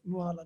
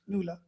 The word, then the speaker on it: Nuala: I'm like, Nuala, no, it's Nuala. Nuala.